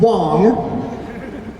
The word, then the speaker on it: Wang: Up next, we've got Kat Wang as Todoroki Shoto from My Hero. What? It's spelled W-A-N-G. Believe you me, I know what that is. Kat Wong as Todoroki Shoto from My Hero Academia.